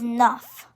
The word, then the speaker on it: neuf: And 9 is neuf. It's spelled N-E-U-F.